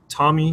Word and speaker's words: TomEE: The project is pronounced TomEE, not TomEE, so that's how you know anybody who's watched a video before versus just seeing the text written.